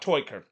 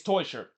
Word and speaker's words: Teuscher: By the way, this is the second week in a row that the broadcaster has mispronounced Teuscher's name. For the love of God, it's not Toiker. It's Cedric Teuscher.